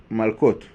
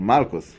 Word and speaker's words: Malkot: So it is called Malkot, or Malkos, in the Ashkenazi pronunciation.